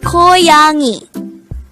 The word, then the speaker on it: 고양이: Word Number 43: GOYANG-I GOYANG-I is the korean term for CAT. the word GOYANG-I could be divided into three syllables GO, YANG, I.